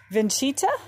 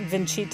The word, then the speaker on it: Vincita: i think it's pronounced vincita i kind of i googled the pronunciation and everything i found makes it sound like there's a ch like vincita it's italian um and i think